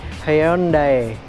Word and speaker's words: Hyundai: Tapi sebenarnya pabrikan asal Korea ini nyebutnya itu bukan Hyundai, tapi Hyundai. Di mana itu sedikit ada kayak pelafalan Korea-Koreanya gitu ya, guys.